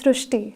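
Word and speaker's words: Srushti: We have heard of Srishti, but this is a very unique name, Srishti. So in Marathi, the word Ri is pronounced as Ru. So that is why the pronunciation goes Srishti.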